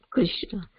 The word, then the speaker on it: Krishna: but then so then we should pronounce Krishna completely all the syllables so then that Krishna